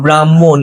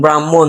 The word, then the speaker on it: ব্রাহ্মণ: আছে এটাকে তুমি বল ব্রাহ্মণ এটা কি উচ্চারণ ব্রাহ্মণ দেখো ভাইয়া তাইলে উচ্চারণে আমি কি বললাম যে যুক্ত বর্ণে যা পরে থাকবে সেটা আগে আসবে তাইলে এখানে উচ্চারণে আসবে